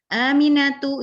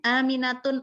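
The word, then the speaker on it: آمنةُ: Nah, kita perhatikan nama-nama perempuan ini, baik di belakangnya tak marbutoh atau enggak, semuanya tidak ditanwinkan. Aminatu, Zainabu, Fatimatu. Kita enggak bilangnya Aminatun, enggak. Zainabun, enggak.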